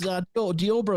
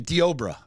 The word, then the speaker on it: Deobra: It's Diobra is how they pronounce it on the news. Okay, Diobra.